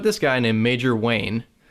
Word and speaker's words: Wayne: guy in a major Wayne in charge of isn't it it rhymes with major pain so should be easy